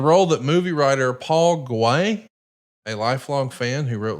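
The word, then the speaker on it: Guay: It was the role that movie writer Paul Gay, a lifelong fan who wrote Liar Liar. Paul Gay. Paul Gay, okay. Yeah, it's pronounced gay.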